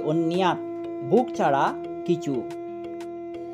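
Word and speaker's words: অন্যৎ: ধর্মে যে প্রীতি রাখে, অন্যাত, জফলার উচ্চারণ ইয় হবে, অন্যাত, ভোগ ছাড়া কিছু, ন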